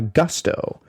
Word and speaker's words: Gusto: This episode of the Productivity podcast is brought to you by Gusto. What is Gusto? Well, it rhymes with must or Rusto as in let's do it once more with Gusto.